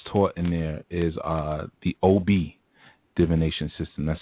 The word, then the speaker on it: Obi: The divination system that's taught in there is the OB divination system. That's spelled OBI, and it's Yoruba based, and it's a system where it's often misrepresented.